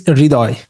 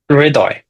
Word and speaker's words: Ridoy: Let me give it uh, a go. it's Ridoy. Ridoy.